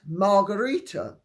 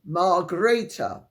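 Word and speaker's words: Margrethe: precise with PR pronunciation whatever possessed you to sound the name at the time of writing of the queen of Denmark as if it were a Spanish name she is not Marita nor could she be readily mistaken for a mixture of quantro and teila however intoxicating is her personality surely a reasonable anization of the pronunciation of her name would be Mar greata regards David I stand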